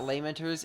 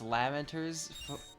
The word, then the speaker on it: Lamenters: So, it's not Laymentors, it's Lamenters for the Lamenters chapter is not lame at all.